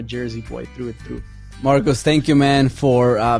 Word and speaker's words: Marcos: want to say it's it's really nice to hear Latino pronounce my name again I haven't heard my name pronounced that they know in a long time bro is that so it's usually Marcos yeah Marcos I just